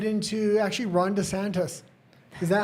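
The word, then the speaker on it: DeSantis: Okay, let's get right into actually Ronda Santis. Is that how I say it? Because you're always angry at me. He always says Ronda Santos and it's Ronda Santis.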